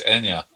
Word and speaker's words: Anja: so we're saying your name wrong. It's Anya. Yeah, I've heard everything under the sun, so I just respond when I hear something similar to Anya. Yeah. No, sorry about that. I've seen I've seen names like Tanya spelled with J. Yeah, it's So, starting to become more common.